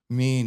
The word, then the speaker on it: Mien: Mien, yeah. So and that is how it's pronounced, right?